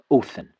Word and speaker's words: Odin: pronounced as a D but as a so Odin would have been pronounced something like oin.